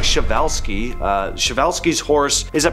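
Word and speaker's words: Przewalski: So, pronounce something like Shavevelski.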